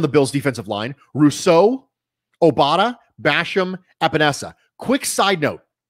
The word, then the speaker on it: Obada: signed fa obada they specifically said it was pronounced fa obara and if you've listened to my pod previously that's the way i've been pronouncing it i have been pronouncing it fa obara because that's the way it was emphasized on